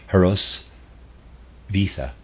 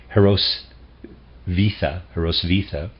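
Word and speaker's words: Hrosvitha: If you subtract all that specifically belongs to Goethe, you come back to the Theophilus described by the saintly nun Heraus Vita.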